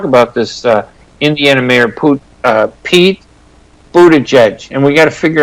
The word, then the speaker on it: Buttigieg: But I like this guy, Peter Buttigieg, and his last name is Buttigieg, and it's Buttigieg, J-E-J. That's how you pronounce it.